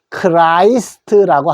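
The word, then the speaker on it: Christ: 자, 이거를 크리스트를 영어로 어떻게 하느냐 하면은 요 E라고 읽지 말고 I라고 읽어 주십시오. 그러면은 리을이 E가 아니고 I니까 크라이 되죠. 크라이스트라고 합니다. 크라이스트.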